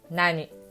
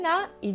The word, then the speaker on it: 何: Après nan, il y a une lettre t ou d ou n. Par exemple, nan desu ka, il y a des prononciations. Un autre exemple, nan no hon desu ka, il y a la prononciation de n. Par contre, dans une phrase avec COD, il y a toujours o. Ce n'est pas t, d, n. Du coup, on dit nani.